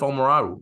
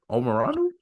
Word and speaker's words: Omoruyi: Dickinson, Jackson Davis, Edey, Cliff Omoraru. Like, I mean, the big men. I know I butchered that. Don't even laugh. Can we run that back? Can you say that one more time, Cliff? Who? Cliff Omoraru. Omoruyi. Thank you. Omoruyi.